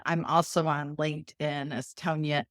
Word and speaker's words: Tonja: Hello, I'm Tonya and my name's spelled a little odd so I will spell it for you.